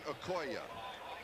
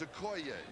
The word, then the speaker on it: Okoye: Over the years, you have heard this man's name pronounced Christian Okoye. We asked him yesterday because we heard that we had been pronouncing it wrong. He says, yes, he says everybody has. The correct pronunciation is Okoye. So hopefully from now on it will be Okoye.